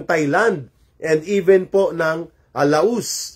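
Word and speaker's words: Laos: and even po ng Laus or Lao ang pag-pronounce nila.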